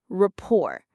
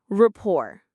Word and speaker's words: rapport: It rhymes with door or more, rapport. Let's say it together, rapport.